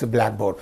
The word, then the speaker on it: blackboard: brought together that becomes Blackboard so where should we give stress black on the first word not syllable pleas first word so Blackboard notebook birthday timetable